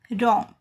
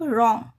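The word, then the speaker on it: wrong: रॉन्ग जैसे डब्ल्यू के बाद आर आया है तो डब्ल्यू साइलेंट हो गया। उसका उच्चारण नहीं होगा इसमें। इसको क्या बोलेंगे? सिर्फ रॉन्ग। राउंड इसका प्रोनाउंसिएशन क्या होगा? रॉन्ग।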